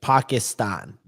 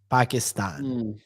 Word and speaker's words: Pakistan: I gota Well, and Ry, it's actually it's Pakistan. Pakistan is the right pronunciation.